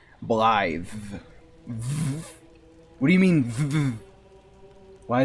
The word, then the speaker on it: Blaidd: The way ahead is his name is Blaidd, and it's pronounced Blythe.